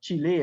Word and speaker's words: Chile: the us of course chile right or chile as the uh uh latinos pronounce it they have a very